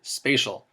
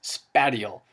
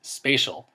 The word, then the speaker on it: spatial: important by the way notice I pronounced it spatial I don't want to hear anybody pronouncing it as spatty all that drives me nuts there's no such thing as anything spatty all it is spatial dealing with space an area look at